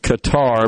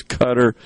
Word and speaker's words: Qatar: uh I pronounced it Qatar because that's the way it's spelled and my mind was just not thinking I've heard it a million times I know it is pronounced as cutter and somebody on sepire